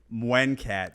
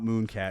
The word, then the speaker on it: Muenkat: Muenkat, not Mooncat.